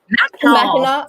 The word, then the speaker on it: Mackinac: So besides your love for visiting, how do you pronounce that? Mackinac.